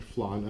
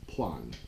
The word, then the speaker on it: flan: You'd pronounce it flan, F-L-A-N, but with a thick Filipino accent. It's plan, okay, P-L-A-N, because there's no F in Filipino, oddly enough.